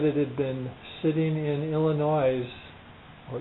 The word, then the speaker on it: Illinois: had been sitting in Illinois or Illinois I guess is the proper way to say it that s is silent at the end for 72 hours in